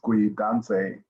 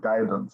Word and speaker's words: Guidance: They thought my name was one of the African languages, and they ended up pronouncing my name as Gui Danse instead of Guidance.